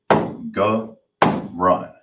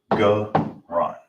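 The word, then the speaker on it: גרון: In the Hebrew, it is pronounced garan. Now let's get it the ancient. So you have the ga, so you're gonna connect it, so the ga is by itself. Then you got the ra and the na that's connected. So you'll pronounce it ga run.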